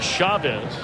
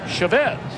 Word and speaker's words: Chavez: may be wondering uh you've heard him called Chavez and we asked him about it he said he doesn't really mind either would he said but his father has always uh pronounce the family name Chavez so you always want to honor mom and dad and Eric we're going to do the same for your day dad says that's the way it is that's the